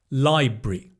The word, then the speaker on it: library: So the rur becomes itinerary. Library. Similar kind of thing.